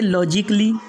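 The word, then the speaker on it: logically: इसके बाद में सेकेंड रूल है, इन चार शब्दों में ए को जो है तो साइलेंट रखना पड़ेगा, मतलब साइलेंट ही पढ़ा ही नहीं जाएगा। जैसे लॉजिकली, म्यूजिकली, रोमांटिकली, उसके बाद में है आर्टिस्टिकली, मतलब ए को नहीं पढ़ना है, लॉजिकली नहीं बल्कि लॉजिकली,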